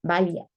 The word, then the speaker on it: valla: paro les ponían así Esa es la valla de doble l que se pronuncia vaya ahora el número dos